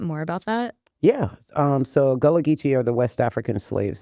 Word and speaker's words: Gullah Geechee: and your Gullah Geechee heritage. Am I pronouncing Yeah. that correctly? Mhm. Can you talk a little bit more about that? Yeah. So Gullah Geechee are the West African slaves that were brought to Charleston.